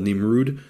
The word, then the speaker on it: Nimrud: site um I think it's called nimrud which is just the Arabic pronunciation of nimrod um you got if